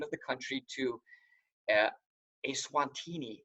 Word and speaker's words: Eswatini: to change the name of the country to Eswatini. It's spelled on there for you, E-S-W-A-T-I-N-I, Eswatini.